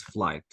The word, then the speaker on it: flight: Bravo so all guys this is flight all the DH GH if you want to check or see GH all the time it is silent okay okay okay I